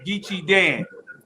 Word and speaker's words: Geechie Dan: you say my man's name his name is gichi dan they say they say ask gichi dan do